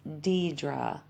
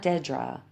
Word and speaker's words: Deidre: Yes, pronounced Deidre, not Dedra.